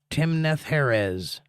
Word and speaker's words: Timnath-heres: Timnath-Heres is how you say that.